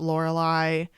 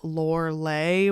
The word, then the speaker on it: Lorelei: people pronounce it Lorelei, some people pronounce it Lorelei was the woman, and then after she died, she became a Lorelei or a Lorelei, but it's just up to the person how they want to pronounce it, I guess.